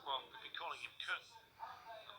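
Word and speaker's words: Küng: It's actually halfway between Kun and King.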